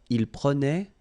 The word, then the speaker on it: il prenait: So same thing here, final S not pronounced. Je prenais, tu prenais, il prenait, final T not pronounced.